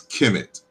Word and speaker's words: Kemet: We colloquially pronounce as Kemet.